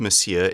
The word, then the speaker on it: Monsieur: Monsieur book now Monsieur it's spelt with an N but it's pronounced Monsieur is the French Way